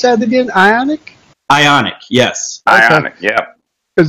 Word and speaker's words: Ioniq: How do you pronounce that again? Ioniq? Ioniq, yes.